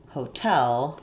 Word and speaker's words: hotel: Like if I say, for example, hotel, that's stressed on the T, then I use an actual full release T, tell, hotel.